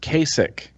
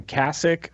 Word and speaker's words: Kasich: i believe it that is it oh it's pronounced Kasich k7 a Governor John Kasich what did you say in my vlog I'm in my vlog I was calling him cassock or casa yeah because I'm terrible at pronouncing